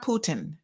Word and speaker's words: Putin: say it wrong again i'm going to go puta putin so that i make sure i get it right so i might not